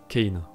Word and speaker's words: Kane: série est en anglais il faut considérer la prononciation anglaise Kane selon ses textes Kane